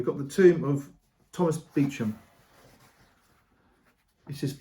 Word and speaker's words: Beauchamp: the tomb of Thomas beum this is spelled spoal but it is pronounced beum even though it's spelt in the French way so in 1370 this